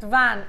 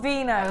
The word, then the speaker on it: vin: Alison in Merseyside says, Jenny, where is the wire in, hang on, where is the wire in French is Uwe Levine, pronounced van. Uwe Levin, not Vino.